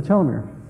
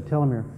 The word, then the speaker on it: telomere: There is one minor and two major ways there are of pronouncing the word telomere. Most Americans will say telomere.